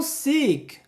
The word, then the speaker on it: seek: Um outro exemplo seria o seek, que se escreve com 2 Es e tem o sentido de procurar, buscar ou até pedir.